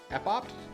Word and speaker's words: Epopt: Epopt? I don't know how that word is pronounced. I'm actually curious. Curious if there's a pronunciation guide. Epopt? Epopt pronunciation. Epopt. Okay, I was right.